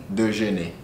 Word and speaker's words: déjeuner: Je voudrais commander un petit déjeuner. Déjeuner. Ne. De, like think of your sister, Nene. Déjeuner. Yeah. Say it one more time, the whole sentence. Je voudrais commander un petit déjeuner.